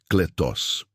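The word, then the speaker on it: κλητός: Para aprofundarmos neste conceito, podemos olhar para a palavra grega usada por Paulo para chamado, que é kletos, se pronuncia kletos.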